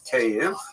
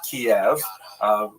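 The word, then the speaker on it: Kyiv: they centered around the city of cave. That's the Ukrainian pronunciation by the way that's favored today because of course Ukrainian is the dominant language in the country but it used to be called in English Kiev which is closer to the Russian pronunciation because Russia dominated much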